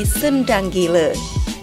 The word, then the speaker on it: Sendang Gile: Penduduk kampung setempat menyebutnya Singa Gila atau dengan sebutan Sengang Gile. Namun, lambat laun pelafalan tersebut menjadi Sendang Gile.